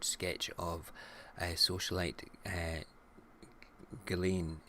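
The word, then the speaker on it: Ghislaine: of a socialite uh galen i've been saying her name wrong it's not just lane it's galen hey my name is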